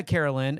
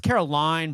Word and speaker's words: Caroline: comedian Brian Regan did the whole Caroline Carolyn no so uh Carolyn it's Caroline Brian Caroline you know I was like